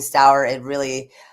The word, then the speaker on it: Stower: So some people call me Stower, some people call me Stour.